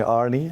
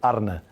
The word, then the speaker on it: Arne: Celtic brandan Rogers he he a few times called me Arie uh I listen to that name but we in Holland would would call me ARA which is not an easy one to pronounce so I listen to Arne as well but I would prefer AR yeah the scouters will call